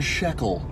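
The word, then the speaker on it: Schöckl: This is the Iron Shekel, is how you pronounce it.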